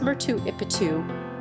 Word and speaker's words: Machu Picchu: For most speakers of English or Spanish, the first C in Picchu is silent. In English, the name is pronounced Machupicchu or Machupicchu in Spanish as or, and in Quechua as.